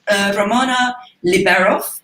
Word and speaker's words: Ramona Liberoff: Ramona Liberoff.